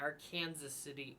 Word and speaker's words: Arkansas City: town of Arkansas City AKA our Kansas City if you're from Kansas but we're outside of Kansas so we would pronounce it Arkansas City very confusing but she